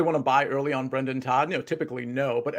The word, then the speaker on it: Brendan: raphael campos argument um no it's it's brandon todd i say always say i like it brendan todd brendan brendan i said it wrong last time i think brendan todd